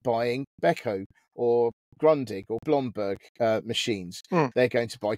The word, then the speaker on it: Blomberg: In fact, I've got a Beko washing machine, and Beko is is part of a stable of brands including Grundig, Blomberg, not Bloomberg, Blomberg, and Singer.